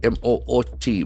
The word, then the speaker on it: moot: examine something carefully study mod m o o t mod has got a single Sy moot moot you suggest something moot